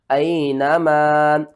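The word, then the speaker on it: أَيْنَمَا: سب سے پہلے اس کے ہجے کر لیتے ہیں. حمزہ یا زبر ای، نون زبر نا، اینا، میم الف زبر ما، اینما.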